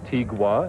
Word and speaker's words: Tigua: stories out there because it was my understanding that tiwa in the word tiwa the G is actually silent and I started asking around on the reservation how do you say tiwa someone would say tigua and others would say tiwa so I'm not quite sure well we can do